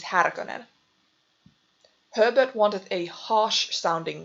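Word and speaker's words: Härkönen: the name originally was harakanen not sure how frank herbert thought the name was supposed to be pronounced but the correct pronunciation of the original name is haragonen herbert wanted a harsh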